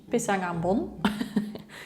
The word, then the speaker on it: pisang ambon: I will just pronounce it in Dutch, pisang ambon.